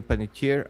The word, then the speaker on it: Panettiere: Uh, it's from King's of Hayden Penitier. I I don't even know how to pronounce her. Uh, no, no, you you said it right. Penetier.